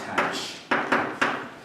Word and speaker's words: tanh: It's pronounced tanh.